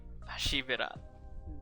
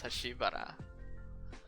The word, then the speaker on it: Hashibira: I always thought it was Hashibara in my head. I guess it is Hashibira.